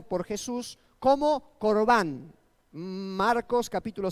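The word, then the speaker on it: קרבן: aquí se pronuncia en el hebreo, allí está pronunciado por Jesús como corbán.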